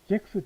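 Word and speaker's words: sechs: 잭스. 저번에도 얘기했지만 섹스라 하면 안 되고 잭스라 발음해야 됩니다.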